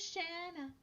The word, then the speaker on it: Shanna: tv and she's like my name is shanna that rhymes with banana and this is shanna's